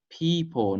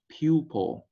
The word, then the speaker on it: people: Thứ hai nữa, people not pupil, Rồi, pupil là từ này là từ học sinh. Pupil, học sinh, P-I-L. Còn đây là people.